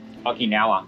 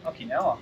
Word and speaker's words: Okinawa: Okinawa. Okinawa. Okinawa. One more? Okinawa.